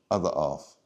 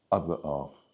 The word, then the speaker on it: other half: the othera for dinner now the pronunciation is a the off a the off other off other off okay other off now for the speaking